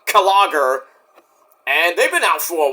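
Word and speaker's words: Klogr: Uh, they're a band called Kagger. K L O G R, but it's pronounced Kager.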